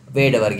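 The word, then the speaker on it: Svedberg: पे ए का मतलब स्वेट वर्ग यूनिट है जसका एस साइलेंट है वेड वर्ग यूनिट है तो टेट्रासाइक्लिन किसको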